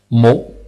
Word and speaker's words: mot: Nous avons mot qui se transcrit phonétiquement M-O. Le T n'existe pas parce que en prononciation, il n'y a pas de T. On ne peut pas dire mot.